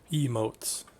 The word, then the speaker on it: emotes: Emotes? I said that wrong. Why do I feel like I said that weird? I enunciated that really odd. Emotes. Stressing the wrong syllable, apparently.